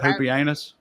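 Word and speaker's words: Pupienus: wait for real that's how it's actually said poopy anus that's I looked it up to where there's this website where where you can you can be like how is this word pronounced and it'll have a person like say it they said poopy anus so I'm going with poopy anus um So, Maximus lays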